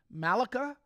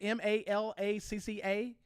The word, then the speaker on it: Malacca: the Strait of, I'm going to butcher this, Malacca, I think is how you say it, Malacca.